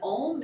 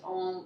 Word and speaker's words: Om: of the head and ohm is spelled om or AUM so the sound when you chant you start the AH at the bottom and as you go all go to the center and that mm resonates at the top